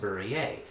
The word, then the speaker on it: Burrier: is barrier b-u-r-r-i-e-r and it's a french origin so in france it's pronounced berries hence berea children's book